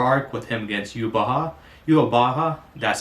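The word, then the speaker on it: Yhwach: Yubaha, that's how you say it, yeah, Yubaha.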